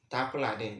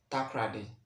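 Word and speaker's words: Takoradi: takulade. That is Nzema pronunciation. But in English we say takrade. But in Nzema we say takulade.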